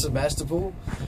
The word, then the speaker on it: Sebastopol: you say this town that's Sebastopol as every what you're sorry it's the best of all and like you said